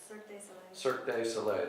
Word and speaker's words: Cirque du Soleil: So in a sense, more like Cirque du Soleil. Cirque du Soleil.